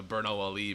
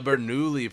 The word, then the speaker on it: Bernoulli: are you talking about like the Bernal Ali principle and they're like oh you meant the Bernoulli principle that's really funny actually